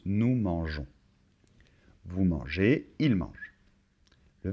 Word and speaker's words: mangeons: Si on ne rajoute pas ce E, ça ferait nous manguons. Donc il faut rajouter un E et de cette manière, on le prononce nous mangeons.